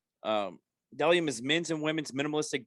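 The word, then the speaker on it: Bdelliom: mls number 173 597 mother sponsor dellium b-d-e-l-l-i-o-m pronounced dellium dellium is men's and women's minimalistic brand that focuses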